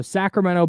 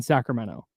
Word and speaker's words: Sacramento: okay and she said she had to train her voice to not say the T in Sacramento when she was doing ladybird because she wanted to say Sacramento and I thought that